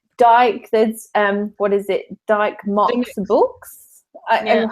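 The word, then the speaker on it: Dymocks: Dyke Mox Books. And how you say it? And I wouldn't say Dick because I used to pronounce it Dick Mox.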